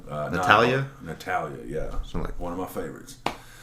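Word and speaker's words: Natalya: Natalia, yeah.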